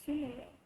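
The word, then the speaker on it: Sumeru: numeral City for the first time I'm actually pronouncing it right sooner row this is the place um let's just slide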